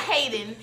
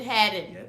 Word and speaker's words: Hadden: to clear the air not Hayden it's headed headed okay had it all